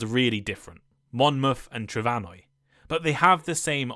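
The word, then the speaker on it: Trefynwy: a few centuries ago the m in Welsh somehow changed to an F pronounced like a V making the modern Welsh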